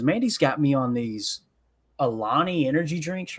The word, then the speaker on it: Alani: Go ahead, sponsor the show, Alani. I think that's how you say it, Alani. Yeah, it's Alani. So anyway, when you talk